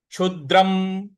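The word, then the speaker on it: क्षुद्रं: क्ष छ क्ष छ क्षद्रम छु के बाद जो द है इस पर हमको हल्का सा बल लगाना है आघात देना है क्षुद्रम जो अनुस्वार है उसका उच्चारण हमें म ले आना है क्षुद्रम हृदय दर्बल्यन हृदय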